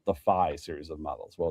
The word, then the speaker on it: phi: Well, it's PHI, like the Greek letter, which I think is really pronounced as phi, but for It some is. reason, I always thought it was 5 for some reason.